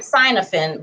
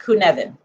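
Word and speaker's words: Cynefin: we'll look this up okay it looks like cynofin but it's pronounced kunevin okay the kunevin model uh is a model that talks about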